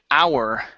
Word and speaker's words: hour: Next up is the word hour. Right here. Instead of hour, a 24-hour period. The H is silent.